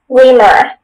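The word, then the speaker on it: rimur: Reamer. Am I pronouncing it correctly? Sounds right.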